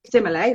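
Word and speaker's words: sommelier: And you work very closely with the similar, how do you pronounce it again? The wine, Simile, that's right.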